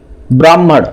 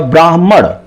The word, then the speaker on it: ब्राह्मण: मतलब अगर लिखूं मैं तो ऐसे जो है हम लोग बोलते हैं ब्राह्मण, ब्राह्मण ऐसे बोलते हैं। जबकि अगर ये कहा जाए इसका उचित जो मतलब एक सही उच्चारण क्या होगा, ब्राह्मण, यानी हा पहले आया ब्राह्मण, ठीक है।